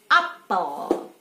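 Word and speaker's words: appel: Apel, ya, kalau kita kan apel P-nya satu, ke mereka dua, tapi bacanya sama, apel.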